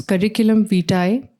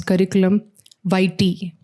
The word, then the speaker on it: curriculum vitae: So in British English, it's curriculum vitae, and in American English, we say it as curriculum vitae.